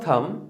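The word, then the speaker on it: thumb: एज a rule of थंब, इसको थंब नहीं बोलते, थंब नहीं बोलते, बी साइलेंट।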